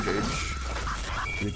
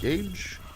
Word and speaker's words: Gage: How do you pronounce your name, Jage? Gage. Getting your head ripped off in dark. I said it right. Gage.